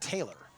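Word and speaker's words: Teilar: It's spelled T-E-I-L-A-R, but it's pronounced Taylor.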